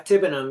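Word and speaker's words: Tibenham: you you visited tibbenham do I have that pronounced correctly correctly yeah tibbenham yeah I was there uh it's a you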